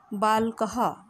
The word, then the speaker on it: बालकः: बालकः। बच्चों, बालक में ये 2 बिंदी विसर्ग जो लगा है इसको हम बोलते हैं विसर्ग। इसका जब हम उच्चारण करेंगे तो आवाज़ आएगी ह की।